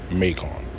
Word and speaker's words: Macon: That shit says Macon. I know it look like it say Macon, but it says Macon. It's pronounced Macon.